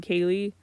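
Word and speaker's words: Kayle: The main character is named Kaye, but it's not my name. It's spelled K A Y L E.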